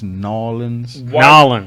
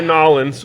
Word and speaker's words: New Orleans: know why new orleans the proper pronunciation is nawlins why nolan's without anything to go on